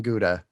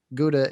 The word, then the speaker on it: Gouda: It's just Gouda is good and is good for a Gouda also. You're making another face. Gouda? Is that how they say it? Gouda? Nope. Gow. Gow. Gow like cow.